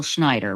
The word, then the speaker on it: Schneider: We're talking about the Aryan Brotherhood and Paul Schneider, right? Is that how you pronounce his name? Yes, okay, Schneider.